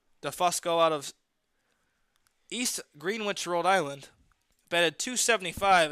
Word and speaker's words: Greenwich: New Englander and me knows it's East Greenwich East Greenwich excuse me where I'm from it's Greenwich the same exact spelling is a town near me pronounced the Greenwich three balls one strike